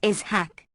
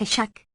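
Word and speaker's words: Ishák: warned the reader that the name is pronounced is hack like Isaac with a central aspirate not a shack this is not unnecessary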